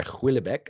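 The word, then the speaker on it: Houellebecq: And actually, there was a book by Huillebec, I believe his name is pronounced, it's a Frenchman, Huillebec, where he in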